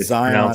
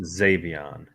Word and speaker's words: Xavion: I said Zion. It's pronounced Xavion.